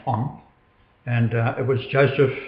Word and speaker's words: On: of the devil which is own in Egypt pronounced on and uh it was Joseph who today is